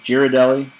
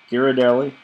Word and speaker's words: Ghirardelli: I don't know how to pronounce Giardelli. Girardelli. Ghirardelli.